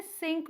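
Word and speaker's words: sync: बोलते हैं lip Singh right तो इसे सिंक बोला जाएगा ये परफेक्ट है हालांकि सुनने में ऐसा लगता है की लिप सिंह बोल रहे हैं क्या बोल रहे हैं लिप सिंह तो ना तो स्पेलिंग ऐसी है और ना ही इसे ऐसे बोलना है यह है लिप्स सही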